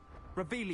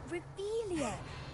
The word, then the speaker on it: Revelio: Revelio. You're saying it wrong. Revelio. Ugh, Revelio. Much better.